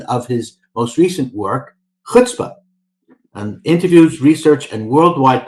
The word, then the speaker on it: chutzpah: So the ch sound is not necessarily one that's very common to us. I've seen it pronounced chutzpah. I mean, if you look at the ch, it can sound as like a k, as in the word character or chaos. It can sound like ch, as in I'd like some of that chai tea.